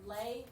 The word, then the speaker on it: les: it becomes lay here do you pronounce the s no so lei and garcon garcon sounds